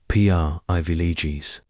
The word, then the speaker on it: privileges: When pronouncing privileges, begin by saying it slowly, privileges. Notice that the primary stress is on the first syllable, pri.